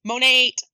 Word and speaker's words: Monat: Especially when you find out it's pronounced Monate. It's even worse. Yeah, apparently it's not Monat. Apparently it's Monate.